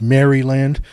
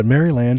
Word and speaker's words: Maryland: Helen actually it's pronounced Maryland we had yeah the back then it was this the colony was named for Queen Mary really I didn't know that it was Maryland wow yeah Maryland and uh Samuel Chase